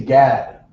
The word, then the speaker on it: Gad: In English, we say Gad. Yeah, God. Gad. But in Creole, you would pronounce it from back here, which would be God. It's like saying God.